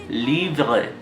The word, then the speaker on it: livre: But I just want you to hear the sound, the second sound that you're going to make very subtly. So livre, vrai, vrai, vrai, vrai, vrai. You're going to make that very subtly.